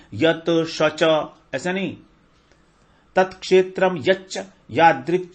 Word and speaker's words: यच्च: तो तत्क्षेत्रम यच्च, देखिए इसको हम प्रोनाउंसिएट कैसे करेंगे, तत्क्षेत्रम यच्च, यच्च, च के ऊपर थोड़ा जोर डालेंगे, 2 च है ना, एक आधा एक बड़ा।